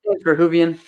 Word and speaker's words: Verhoeven: Verhoeven.